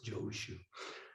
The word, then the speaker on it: Joshu: monk asked the master joshu pronounced in japanese joshua does this dog have